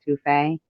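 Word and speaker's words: étouffée: and that's how you say it, etouffee.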